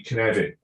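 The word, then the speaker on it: Cynefin: And I'm allowed to say Knevin because I'm Welsh, so much like Dave Snowden, I can actually pronounce it properly.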